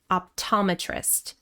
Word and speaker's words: optometrist: First we have optometrist. Stress on the second syllable. Optometrist.